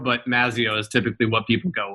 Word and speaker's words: Mazzeo: I don't typically correct people, but if we're going with the actual correct Italian pronunciation, it's Mazzeo, but Mazzeo is typically what people go with.